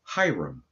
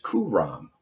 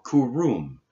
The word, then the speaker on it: Hiram: On page 329, it says Hiram, or Huram, meaning noble-born. The more correct pronunciation, according to the true value of the Hebrew letters, is Kuram, or Kurum, but universal Masonic usage